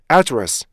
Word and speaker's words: address: 그래서 절대 슈아 발음이라고 address 이렇게 어처럼 발음하시면 안 돼요. 으 발음도 안 해요. 그래서 어떻게 돼요? 원래는 address라고 정확히 발음하셔야 돼요.